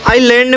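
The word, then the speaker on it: island: आइलैंड में S silent.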